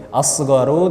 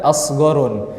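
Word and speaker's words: أصغر: Asgharu tidak kita baca asgharun.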